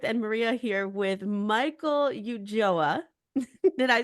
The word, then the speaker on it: Ulloa: it's and Maria here with Michael Yuga did I say that right nailed it yeah